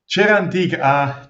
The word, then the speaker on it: Cerantica: Cerantica. Don't worry. Cerantica. Cera, it means wax, and lovely. Antica means ancient. So it's ancient wax.